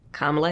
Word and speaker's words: Kamala: So many people, I myself included, I used to pronounce Kamala Harris wrong, but it's because I pronounce it the Spanish way, and now I pronounce it the English way.